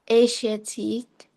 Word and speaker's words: Asiatique: Um, at like Asiatique. Asia? Wait, it's spelled like it's Asia and then Tique.